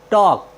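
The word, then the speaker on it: talk: टी ए एल के टॉक टॉक मीस होता है बात करना साथियों यहां पर एल के के पहले आया है इसलिए हमने एल का उच्चारण नहीं किया है हमारा नेक्स्ट वर्ड मीनिंग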